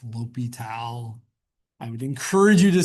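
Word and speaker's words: L'Hôpital: Um, doesn't really matter, but it's not pronounced the hospital. It's Lal.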